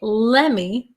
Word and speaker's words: let me: if you're free okay and the reason that we say lemmy lemmy uh it sounds kind of like lemon right lemmy lemmy okay it's going we start out with let me let me but of course in english these t's disappear they go somewhere i